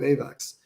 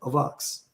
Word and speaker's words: AVAX: in writing and so nobody knew how to pronounce it and then everyone calls it avax in the in the outside world everybody at Ava Labs calls it avocs including me I'm making